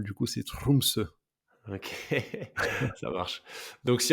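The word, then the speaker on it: Tromsø: Français j'arrive pas mais en norvégien les r il les roulent comme en espagnol du coup c'est trumse ok ça marche donc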